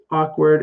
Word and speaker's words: awkward: ok word and uh word actually sounds like er like in better it has that er sound but ock word awkward and then frightened frightened